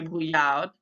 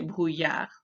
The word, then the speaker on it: brouillard: So brouillard was the word that had a silent letter because we don't pronounce that D at the end. We don't say brouillard, we say brouillard.